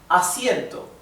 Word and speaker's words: asiento: A. Siento. Asiento. Right? Asiento. This is a diphthong. Diphthong. Why? Because we have two vowels that stay together in the same syllable.